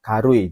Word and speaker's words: 軽い: Ya, jawabannya adalah nomor 3 ya, minasan, yaitu karui. Jadi ini kanji karui bacanya.